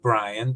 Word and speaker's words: Bryann: I know you pronounce it Brian, but can you tell us a little bit more about your name?